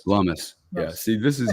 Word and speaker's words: Lummis: Who's the Loomis? Lummis. Yeah. See, this is how ignorant I am on politics. I can barely pronounce these people's names, and I'm hanging out